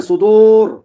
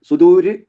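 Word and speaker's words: الصدور: മറിച്ചാണ് അവിടെ ഓതേണ്ടത് അവസാനം സുദൂർ സുദൂർ മുകളിലുള്ള മൂന്ന് ആയത്തുകളുടെ അവസാനം നമ്മൾ പറഞ്ഞു മസീര ബസീർ കദീര ലഘുവാക്കിയായിട്ടാണ് റിനെ ഉച്ചരിക്കേണ്ടത് എന്നാൽ ഇവിടെ സുദൂ എന്ന് ഉച്ചരിക്കണം സുദൂര എന്ന് പറ്റില്ല മുകളിലെ ഉച്ചാരണം പോലെയല്ല ഇവിടെ ഉച്ചരിക്കേണ്ടത് അതേപോലെ അഞ്ചാമത്തെ ആയത്തിൽ അഞ്ചാമത്തെ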